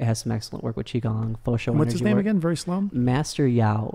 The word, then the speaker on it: Qi Gong: ok and then Gong is gon G ok chi gong and so that's basically connecting with energy and